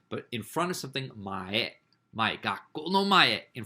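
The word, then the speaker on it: 前: And before, the second one up from the bottom, before or previous, mae. Mae. Not mai. Mai means like every. Like every day is mainichi. But in front of something, mae.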